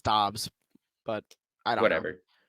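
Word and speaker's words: Doubs: to say his name I I say dubs but it's dobs but I don't know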